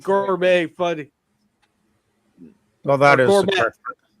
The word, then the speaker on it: gourmet: Well, that is gourmet. Gourmet would be the correct pronunciation.